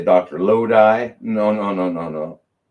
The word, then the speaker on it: Lodi: So I's are E.